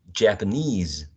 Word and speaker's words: Japanese: A trap here in the first syllable, right? Ja, p, neutral, schwa, knees. The word stress falls into the last syllable, right? Knees. And then we have a voiced z, Japanese.